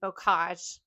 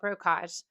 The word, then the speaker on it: bocage: For me, it's definitely multispectral smoke, and a close second would be bocage, because a lot of times I call it brocage.